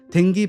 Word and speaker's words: 댕기: mc 저스틴 실버스타 가 댕기 발음을 어색하게 하자 정우연 은 정확하게 d 발음으로 하라며 다시 댕기를 확실히 말하고 따라 할 수 있겠습니다 정호연 말에 따라 정확하게 댕기 라고 말한 mc 는 이어서